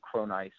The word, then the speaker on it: Cronise: go for there just put my name cron ice into to uh Google and you'll find lots